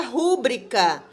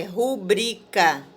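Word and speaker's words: rubrica: na pronúncia sílaba dá erro na pronúncia do acento tônico é quando você pronuncia uma palavra errada então por exemplo a palavra rubrika maioria fala rubrika sendo que na verdade o correto é rubrika o cacoépia erro na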